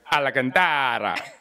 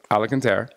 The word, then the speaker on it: Alacantara: I like to pronounce her last name Alacantara, but it's Alacantara.